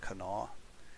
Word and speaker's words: Kanawha: now there's a division here in Kanawha, or Kanawha, however that is pronounced. I think it's pronounced Kanawha if you're from there.